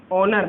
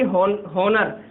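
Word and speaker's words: honour: बताओ ए चाहिए, क्या पढ़ेंगे इसे, ऑनर, ना कि होनर। बहुत पढ़ते हैं इसे, प्रोनाउंसिएशन आपको ध्यान रखना है इसका, होनर पढ़ते हैं बहुत। ठीक है, बहुत स्टूडेंट होते हैं, बहुत भाई होते हैं जो हॉनर पढ़ते हैं, जबकि है क्या ये, ऑनर।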